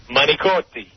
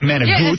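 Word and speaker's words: manicotti: How do you pronounce m a n i c o t i? Manotei. Manotei. Not manag. C is not a g.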